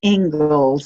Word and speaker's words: Inglis: eco method interiors and today's guest is inglis did i pronounce that last name correctly it's actually ingles it's a surprising pronunciation ingles and i'm very glad to be here with